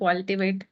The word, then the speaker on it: Qualtivate: So tell us something about your company, Qualtivate. Am I pronouncing it correctly? Yes, yes, that's correct. Qualtivate, Yeah.